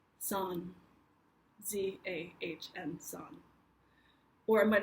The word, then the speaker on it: Zahn: So with an American pronunciation, Zahn. Zahn, Zahn, Zahn, something in this direction. In German, the Z or the Z sound is a harder, imagine that in German, a harder sound, so it's more like a T-S sound.